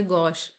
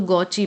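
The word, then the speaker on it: gauche: जैसे यहां पर एक वर्ड है गश जी ए यू सी एच ई तो अगर कोई पढ़ पढ़ेगा इसे इंग्लिश के अकॉर्डिंग तो गौची पढ़ेगा। लेकिन ये गलत है। तो हम इसे क्या पढ़ेंगे? गौश है ना?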